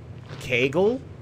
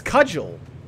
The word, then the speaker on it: cudgel: It's pronounced Kegel? Are you making a joke? It's cudgel. The humble cudgel. What are you talking about? No, something you beat somebody with is a cudgel.